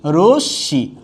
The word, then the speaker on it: রশ্মি: এখানে আছে রশ্মি, কেউ যদি বলেন রশ্মি তাহলে কিন্তু হবে না, হয়ে যাচ্ছে কি রশ্মি, হয়ে যাচ্ছে রশ্মি।